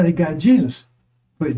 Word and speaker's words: Jesus: He says my name is Jesus. You don't say Jesus to Jesus because he can't pronounce the J E. But there's a G sound in which like geoysics, geometry, uh geopolitics. Those are Greek words. And the G in front is a is is a